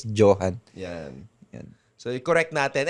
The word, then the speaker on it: Johann: kahit saan kahit nga dito sa ano sa Pilipinas mostly Johan ako pag tinatawag eh ganun ang nagiging pronunciation ng pangalan ko pero ang tama talaga is Johan yan yun so i-correct